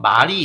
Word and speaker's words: 말: 예를 들어서 말이 있고 말이 있는데, 입에서 뱉는 말 있죠. 그거는 이제 길게 발음하고요, 달리는 말은 짧게 발음해요.